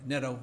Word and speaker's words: Nadeau: Dr. Daniel Neto is how he pronounces it, was just selected a